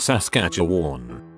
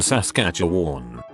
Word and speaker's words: Saskatchewan: from a place called Saskatchewan it's not actually hard to pronounce just like it's spelled but if you haven't